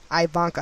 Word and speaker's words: Ivanka: property scandal involving his daughter ivanka ivanka trump ivanka i think i'm pronouncing her name incorrectly but it's i-v-a-n-k-a ivanka